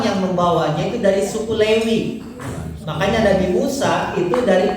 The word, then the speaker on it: Lewi: Ruben, Simeon atau Simon, Levis. Kita pakai celana Levis, ya. Lewi itu kalau kita bacanya bukan Levi, sebetulnya Levis itu Levi Strauss, S-nya itu Strauss, ya.